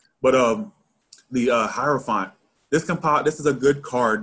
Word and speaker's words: Hierophant: Am I even pronouncing that right? Hierophant. Yeah, Hierophant.